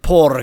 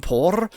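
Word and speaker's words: Porre: The old lady, she's from Por? I'm giving it a Spanish pronunciation because it has 2 R's in it.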